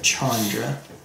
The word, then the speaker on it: Chandra: I've heard some people say Chandra, which is sometimes the case, but more usually it's Chandra. More usually, the CH is pronounced CH.